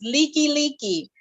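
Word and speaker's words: Likelike: how do you pronounce that street name and it's spelled l-i-k-e -l-i-k-e like so it's like like and of course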